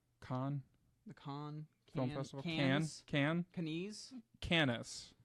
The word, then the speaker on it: Cannes: Am I pronouncing that right? Cannes The Con.